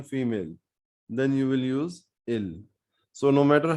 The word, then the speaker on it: ils: is nu for v next we have ill and l again the s is not being pronounced and it is sounding same as the singular ill l which we said for he and she and also we notice